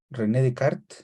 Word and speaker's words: Descartes: ya lo conocen ustedes René de Card se escribe Descartes verdad pero en francés dicen que se pronuncia red de Card ustedes pueden pronunciarlo como